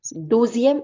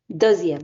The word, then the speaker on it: deuxième: Douzième, non. Douzième is 12th. Deuxième.